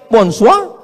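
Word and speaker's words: bonsoir: Bon soir, bonsoa.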